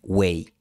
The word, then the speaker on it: güey: Ahora, cuando esta aproximante b está antes de la semivocal w, tiene la tendencia a desaparecer y ser reemplazada por completo por w.